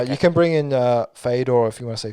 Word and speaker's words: Fedor: You can bring in Fedor if you want to say Fyodor, what the real pronunciation for his name.